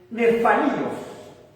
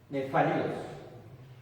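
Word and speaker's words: nephalios: Bueno, la palabra que aparece ahí en griego es nefalios, que se escribe N-E-P-H-A-L-I-O-S, y la PH punta suena como F, nefalios.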